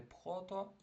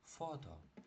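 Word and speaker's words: photo: Читаємо не пхото, а оце буква Ф. І тому читаємо фото.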